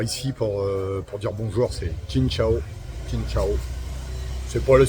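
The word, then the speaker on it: Xin chào: Alors ici, pour dire bonjour, c'est Chin Chao. Chin Chao. C'est pas la super prononciation, mais j'arrive à me faire comprendre.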